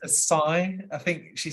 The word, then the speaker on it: acai: can't bring myself to call it an acai bowl. Ah, yes. So I rock up and go, Aki bowl, please, love. She goes, it's acai, I think she says.